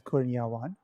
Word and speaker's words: Kurniawan: I would pronounce it as Kurniawan. Which is actually how it's written.